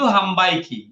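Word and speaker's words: 販売機: লাগবে 10000 জিদ হাম্বাইকি হাম্বাই কি এটা ম হবে উচ্চারণটা কেন ম হইলো না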